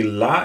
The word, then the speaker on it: La: It's La, because the way La is pronounced is pretty much the same in English and in French, and you really get the sound of the A here, the French A.